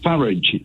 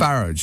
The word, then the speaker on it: Farage: He said Farage there, but I'm pretty sure I've heard him say, Farage, not Farage, Nigel Farage. So I think he changes the pronunciation of his surname depending on which way the wind goes.